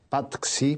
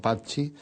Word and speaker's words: Patxi: que cantábamos tus canciones, te pronunciábamos mal, decíamos Patxi, porque leíamos como se suele leer en el español, claro, y no Patxi.